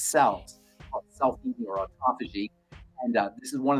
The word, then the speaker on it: autophagy: How do you say autophagy? Autophagy. Autophagy. Phage, P-H-A-G, phage means to eat. Auto means self. Autophagy means self-eating. So essentially, the body cleans out all of its cells, self-eating or autophagy.